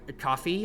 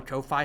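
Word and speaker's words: Ko-fi: First time I ever connected out with somebody pass V PR for commissioning something nice for using coffee or Kofi, however you want to pronounce it that comes to it then.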